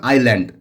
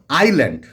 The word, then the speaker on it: island: We live on দ্য big half moon আইল্যান্ড। এই দেখো, তাহলে আমরা বাস করি বিগ হাফ মুন দ্বীপে। আমরা জানি আইল্যান্ড, ISLAND, কিন্তু এস এর উচ্চারণ হবে না, আইল্যান্ড।